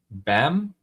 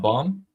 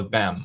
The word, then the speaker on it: Bam: Uh Don Carmon is saying Ali John is pronounced Bam. I know not bomb.